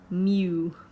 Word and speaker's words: mu: 10 that's basically a population mean and you pronounce that mu I haven't talked about the standard deviation and